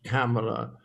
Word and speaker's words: Kamala: were deliberately mispronouncing but i'm not absolutely sure whether it's kamela or sorry i can't even say it now but um the thing it was i thought it rhymed with pamela when i first heard